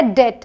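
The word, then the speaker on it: debt: कोई मतलब नहीं है फिर है डेट ध्यान दें यहां पर यह जो बी है यह साइलेंट है आप इसे पढ़ने क्या है आप पढ़ने हैं दत मतलब कर्ज ही इस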